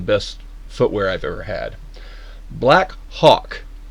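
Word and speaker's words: Blackhawk: Black Hawk, I will pronounce Black Hawk with an H.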